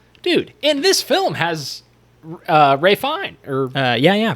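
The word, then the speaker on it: Ralph Fiennes: Dude, and this film has Ray Fine. Ray Fiennes. And Ray Fine? How do you pronounce Yeah, that Ray Fiennes.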